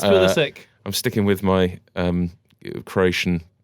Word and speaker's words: Pulisic: Was this the Christian, and we've had a debate about the pronunciation of this before the show, Pulisic that the Chelsea fans have been waiting for? Is it Pulisic?